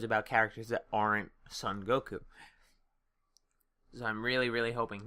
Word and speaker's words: Goku: Goku and Hits, united front. And yes, I pronounced it the Japanese way. 2 U's.